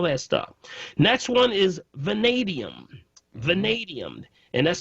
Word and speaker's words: vanadium: Next one is vanadium. Vanadium. And that's spelled V as in Victor, A-N-A-D as in David, I-U-M.